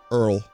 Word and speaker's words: oil: running dangerously low also that that is actually the way a lot of people in a my family and a lot of the oldtimers from New York pronounce the word oil Earl I don't know if anyone else's family does that I don't know if that's an old timey thing or it's an Italian thing or it's a New